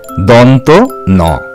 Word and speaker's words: দন্ত ন: সেটি হচ্ছে দন্ত ন এই বর্ণটিও ভুলভাবে দন্তের ন বা অনেক কিছু বলা হয়ে থাকে সেদিকে তোমরা কান দেবে না এই বর্ণটির সঠিক উচ্চারণ হবে দন্ত ন এরপরে যে বর্ণটির কথা